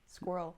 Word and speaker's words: squirrel: Squirrl. Squirrl. Oui, en fait c'est ça veut dire écureil. Ouais. Ah, ça se dit pas squirrel. C'est pas en deux syllabes. C'est vraiment en un squirrel.